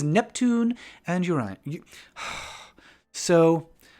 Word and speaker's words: Uranus: So every time I say Uranus, I'm like, oh, do I want to say that out loud? Because it sounds like your anus. Oh, no. But that's just how it's pronounced. Technically, it's pronounced Uranus, but nobody pronounces it that way.